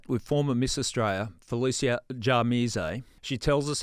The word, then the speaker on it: Djamirze: I was in the Supreme Court, they were pronouncing it Jamirez and I thought, well, don't make me sound like I'm from the Mexican cartel. You're making me sound guilty before I've even, you know, So, no, Jamisay is how you pronounce it, but it's pretty